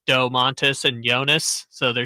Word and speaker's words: Jonas: joke guy but yeah Jonas Brothers he didn't say right it's the yonas brothers okay you gotta say it like his name yonas Brothers uh 916 is